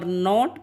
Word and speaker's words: know: silent letters that are not pronounced. For example, in no, K is silent here. So we say no. But we don't say no. No. Kuno is wrong. We'll say no here.